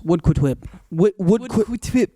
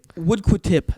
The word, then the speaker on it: Woodquitip: Woodquitip. Woodquitip is how you pronounce it.